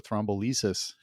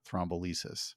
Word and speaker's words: thrombolysis: And he's like, well, do you want me to do a thrombolysis?